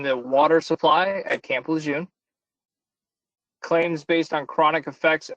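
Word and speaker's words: Lejeune: to contaminant in the water supply at Camp Lun claims based on chronic effects of exposure to mustard gas and I think I'm saying it wrong Shane can tell me Lite that's correct and I know we'll probably have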